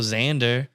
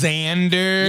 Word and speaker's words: Xander: no other X names there's also Xander if you're cool what yeah wait that's not spelled the Z yeah no it's spelled with an X get out of here Xander is spelled with an